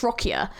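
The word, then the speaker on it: Roccia: character of Ro rossia I keep saying her name wrong I think it's rocka rocka I wasn't too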